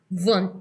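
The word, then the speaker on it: Wundt: it letter D wound wound w baka feeling ko V kasi o German siya e so w for German is pronounce as V k hindi Da BMW bmv vont siguro ang pronoun tamang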